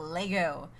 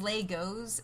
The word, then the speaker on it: Lego: not to pronounce it Legos because Lagos is not correct like Lego is both a singular and a plural which I found out